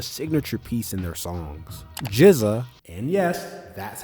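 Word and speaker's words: GZA: Jiza, and yes, that's how it's pronounced, is known as the genius and oldest member of the group.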